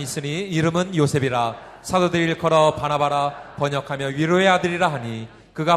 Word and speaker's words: 바나바: 여러분, 바나바를 부를 때 발음을 잘 하셔야 됩니다. 바나바입니다. 또 바나나 그러면 안 됩니다. 자, 사도행전 4장 36절로 37절을 한번 보십니다. 시작. 구브로에서 난 레위족 사람이 있으니 이름은 요셉이라. 사도들이 일컬어 바나바라 번역하며 위로의 아들이라 하니 그가 밭이 있음에 팔아